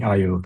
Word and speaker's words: Eyeo: Is it Aeyeo Aeyeo? Aeyeo. So from eye opening because essentially we let the sensor see more. So it's eye opening Aeyeo.